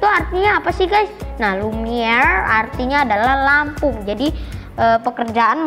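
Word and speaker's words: Lumière: Lumiere Factory, atau enggak Lumiere itu bahasa Prancis, jadi bacanya lidahnya naik R kalau di Prancis ya, jadinya Lumiere.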